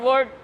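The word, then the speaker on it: would: Then again शुड, कुड, वुड, ऐसे इस तरह के मॉडल वर्ब्स होते हैं, इसमें एल साइलेंट होता है।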